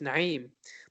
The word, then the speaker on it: Naim: of cultural pride is, pronouncing your name the way it should be as opposed to conforming to how other people pronounce it. Like, I get it, everyone can say Naim, not everyone can do the Ain from the Arabic language. Ain. Let's try that again. Ain. So I get that, Naim is maybe difficult for some, but for me, I can do it.